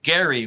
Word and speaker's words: Gerry: Um, it takes its name from the governor of Massachusetts in 1812, Elbridge Garry, with a hard G.